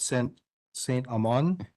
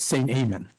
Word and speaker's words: Saint Amen: So I'd like to call up Saint Amon. Yes, it's St. Amen.